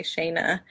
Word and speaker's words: Shana: Everybody pronounces my name differently, and I'm just going to give it to you for your English accent, but I usually say Shana. Shana, that's my English accent. Depending on where you're from in the world, everyone pronounces it a little differently, but I'm so happy